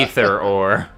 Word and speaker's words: ether: um so that's good you can pronounce it in three different ways let's call the whole thing it can be either or it could be ether all right let's let's